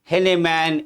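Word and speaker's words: Heinemann: The publication was by a very popular educational publishing company known as Henneman Educational Books. Henneman की spelling है HEI, ऐसे लिखिएगा HEINE.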